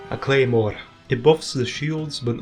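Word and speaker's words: Claidheamh Mòr: Okay, I never knew how to pronounce this thing, but apparently it's just pronounced Claymore with a Scottish accent. I can't really do a Scottish accent. A Claymore.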